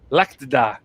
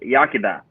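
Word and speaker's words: Iechyd da: It's Lectida. Did you see that too? Yakida. Is that how you say it? Yakida? Yes. It says it's pronounced. It's sometimes anglicized to Yakida.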